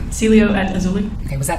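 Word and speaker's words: Cielo: term to the obelia how do you say it again Celio say it one more time Celio at auli okay was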